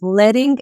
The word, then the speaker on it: leading: is actually pronounced as leting and you might be wondering why in hand type setting composers use thin strips of lead to add vertical distance between the lines of type that's where the term